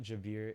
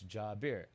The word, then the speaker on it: Jabir: So I was like, "My name is not Jabir, it's Jabir. Jabir. Like Ja Morant bear."